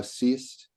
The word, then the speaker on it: seest: So the fifth line, the first one you referred to there, in me thou seest. We should treat seest as one syllable.